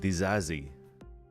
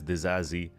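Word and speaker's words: Disasi: uh the new signing apparently you say his name desazi yeah something like that I mean I would pronounce it to sassy The Sassy yeah that's what I was saying too but apparently it's the zazi which is you know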